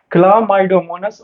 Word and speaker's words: Chlamydomonas: पहला में है क्लोडो, ऐसे कैसे नाम है, क्ला, यहाँ पे CLO नहीं होगा, क्लोमाइड, CL, क्लामाइड, ए होगा यहाँ पे, ठीक है ना। स्पेलिंग को रिपीट करता हूँ, CHLAMYDOMONAS, ये करेक्ट स्पेलिंग है।